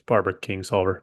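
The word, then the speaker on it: Barbara Kingsolver: it's wild good there I said her name wrong it's Barbara King solver but anyway sorry Barb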